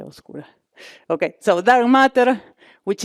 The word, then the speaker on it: oscura: No, how do you say okura? Yeah. Oscura.